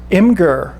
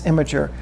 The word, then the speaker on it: Imgur: There's an Imgur link, and I refuse to pronounce the website's name correctly. I know it's Imgur.